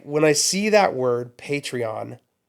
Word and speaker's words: Patreon: It's called Patreon. Pronounce the T. It's not Patreon.